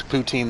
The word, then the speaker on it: poutine: Yeah, I refuse to pronounce poutine the way Quebecois do. Poutine. It's like poutine.